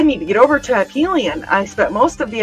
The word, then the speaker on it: Aphelion: So it's Aphelion. And Disa says that he's got that tab up too. It's been a busy day. And Carl said, I need to get over to Aphelion.